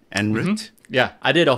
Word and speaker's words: En Route: Is that correct pronunciation? En Route?